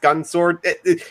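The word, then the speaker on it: Gun X Sword: it's it's belgun ex sword but you don't pronounce the EXO's just gun sword we it's weird it's weird the main character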